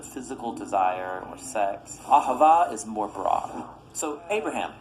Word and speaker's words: Ahava: languages as it is an ancient Hebrew it's pronounced Ahava it both basically refers to the kind of